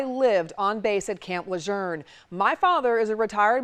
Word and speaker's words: Lejeune: family members is camp luzerne the family pronounces it luzerne as though it had an R in it which it does not have John luzerne is one